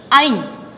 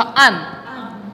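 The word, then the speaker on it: anh: 부를 땐 이게 아닌데 NH가 호치민에서 니은 발음이라서 아니고 호치민 하노이에서는 아잉. 머리도 지났어. 아무튼 근데 우리 호치민만 그래서 안.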